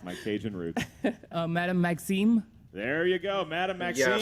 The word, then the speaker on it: Madame Maxime: pronouncing that well. It's my Cajun roots. Madame Maxime.